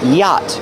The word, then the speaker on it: yacht: The Monterey Peninsula Yacht Club. Pronunciation, yacht. The CH is silent. Don't pronounce the CH.